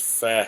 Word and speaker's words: pho: The pho, the PHO. That It's pronounced fat.